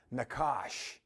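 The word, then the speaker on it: nachash: in many ways and it's the Hebrew word nakash you can you spell it if you want uh n-a-c-h-a-s-h Ash and it means to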